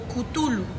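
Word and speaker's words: Cthulhu: es difícil para nosotros, pero nosotros en español lo nombramos como cutulu. En otras palabras, o si lo pudiera si pudiéramos ser bien eh estrictos, sería comoul más o menos así. Una es una pronunciación extraña, pero eh lo hemos traducido en el español como cutulu.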